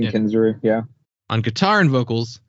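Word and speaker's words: Kensrue: album is Dustin kinu is that how we say that name yeah that's how I've even heard him pronounce it Dustin kinu yeah on guitar and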